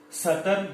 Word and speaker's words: Southern: Southern blotting technique.